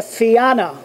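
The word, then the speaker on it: Fianna: I believe Irish mythology the fiana I think is the pronunciation these were mythical Warriors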